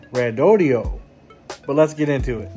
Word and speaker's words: Redodo: that's exactly how they told me it was pronounced rodio not Roto and uh I may say it wrong every